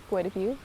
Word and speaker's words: Guadabu: That's how you say it in Lushootseed, Guadabu.